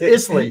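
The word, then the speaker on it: Islay: It's Isley. It's Isley, right.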